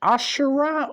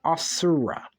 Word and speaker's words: Asura: and ashra well uh is it Ashura or Asura because I heard it pronounced both ways hagaromo pronounces it Asura and kaguya pronounces it Ashura so oh by the